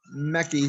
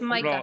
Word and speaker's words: Micah: I just asked, Mr. Mechie here or Mechie. Sorry if I Oh. get your name wrong, man. No, it's Micah.